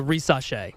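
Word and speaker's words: Risacher: he said like a reace okay so I guess like it's an S but it kind of sounds like a z it's a little French you know yeah it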